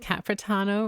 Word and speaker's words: Capano: And yes, I do think it's cute that she said Capano rhymes with il capitano.